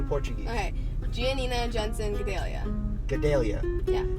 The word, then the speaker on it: Gadelha: Like in my last name, the LH, we say it's like an LY, like yeah.